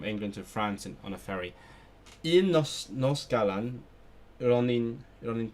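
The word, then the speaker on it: fferi: Ferry. It is ferry. Okay. One New Year's Eve I was traveling from England to France on a ferry.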